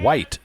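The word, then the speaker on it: Wight: knocked the camera just so I pronounce it correctly you have Graham white w i k e at the plate hitting and pitching Garrison white wi ght white versus white two out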